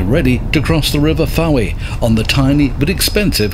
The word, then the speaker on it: Fowey: So this is Fowey, some pronounce it Fowey, which is a really large inlet just around the coast from Polperro, where we've been staying.